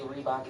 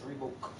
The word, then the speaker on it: Reebok: come out and say rebok isn't rebok rebok is rebook well Reebok is British